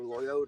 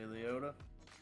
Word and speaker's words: Liotta: things you've seen uh r.i.p ray layout or loyota or liotta how to say his name yep sure that'll work ray leota yeah there you go you know that was